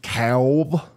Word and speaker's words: DeKalb: I promise I promise it's pronounced cowb DeKalb Ron we got a